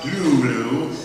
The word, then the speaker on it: Cthulhu: And you will not be released until you have heard the awful truth about Cthulhu, as an eminent mythos scholar told me it was correctly pronounced.